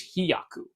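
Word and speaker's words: 飛躍: And in the interest of communication and clarity, I should specify that the pronunciation is hiyaku.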